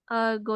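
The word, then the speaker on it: 午: Hero ya atau sebenarnya go ya sih ini dibacanya GO tapi di sini mungkin go ini menandakan siang hari gitu ya Sehingga ini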